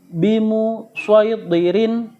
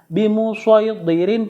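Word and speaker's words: بمصيطر: Dan yang terakhir yaitu tulisannya shad tetapi harus dibaca shad ya, meskipun di atasnya ada huruf sin kecil, yaitu terdapat di surat 88 Al-Ghasyiyah ayat 22 juz 30, yaitu bimu syaidirin ya, cara bacanya bimu syaidirin pakai shad bukan pakai sin.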